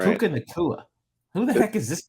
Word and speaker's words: Puka Nacua: Puka Nacua. Right. Puka Nacua.